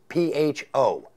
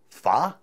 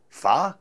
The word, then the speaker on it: pho: something that is spelled pH o now as a stupid New Englander I assumed it was pho apparently it's not it is far' like it's a question Fah so that the controversy